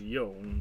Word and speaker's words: Yone: I almost said, yeah, well, I started to say Yone, but then I'm like, then I remembered, oh wait, the E should be pronounced there.